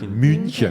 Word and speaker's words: München: München. In German, München. That's why some people spell it Munchen, something like that.